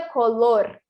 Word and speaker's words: color: Então, seria color. Conseguiu perceber que eu fiz aqui um sonzinho do vibrante? Minha língua vibrou um pouquinho.